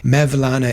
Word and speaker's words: Mevlana: that there's a place there called mevlana pday mevlana is how they pronounce maana and so it's related to Jalal